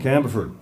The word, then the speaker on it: Campbellford: song about Campbellford uh I finally got to figure out how to say it right Campbellford Campbellford uh all I had to do was say it like a newfoundlander you know camberford and then it sort of sounded right um but I am from